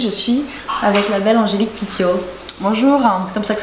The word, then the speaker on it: Angélique Pitiot: Aujourd'hui je suis avec la belle Angélique Pitiot. Bonjour. C'est comme ça que ça se prononce?